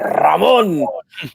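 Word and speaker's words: Ramón: You got to roll the R extra anytime you say his name, too. That Ramon!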